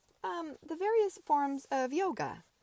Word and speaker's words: yoga: mild tone of voice yog shouted morward good humoredly didn't I tell you the a was silent and the word pronounced like yog but it sounds so